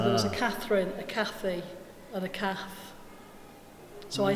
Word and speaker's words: Cath: So, do you like the Kate or not Kate? Kate. I'm not Kate either, no. Not Kate? No, I'm Cath, C-A-T-H. Yeah. Yeah, my pronunciation is different, but we write your name like this, C-A-T-H. Yeah, but Cath. I'm quite happy whatever it comes out as long as it starts off here as Cath.